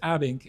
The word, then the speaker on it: Abbink: So, ladies and gentlemen, I'd love to introduce Jacki Periam and Abink, right? That's correct. Is that those pronunciations bang on or okay?